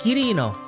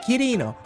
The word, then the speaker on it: Kirino: I was like, Google, pronounce this, and it was like Kirino instead of Quirino. Is it Kirino? On a scale of them, it is. All right, for sure, dude.